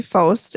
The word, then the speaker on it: Pfost: Faust. Oh, it sounded like they kept Post, putting yeah. a G in It was with it. PFOST, but Yeah. they pronounced it like Faust.